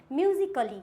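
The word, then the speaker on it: musically: यदि ए के बाद LLY आए तो ए साइलेंट होता है।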